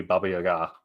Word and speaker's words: Baba Yaga: I guess it should be Baba Yaga, is the proper pronunciation.